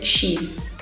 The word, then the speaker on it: Xis: But the thing is that Brazilians, we took this word from cheeseburger and then we started to pronounce as cheese.